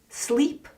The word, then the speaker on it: sleep: when going to sleep the e sound and I sound in English can be really difficult so slip and sleep are different sounds slip slip slip sleep sleep sleep good wondering about a